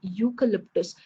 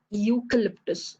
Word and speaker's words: eucalyptus: starts with y okay the pronunciation starts with y eucalyptus it's not eucalyptus it's not e that i'm pronouncing more i'm pronouncing more on you okay union again if you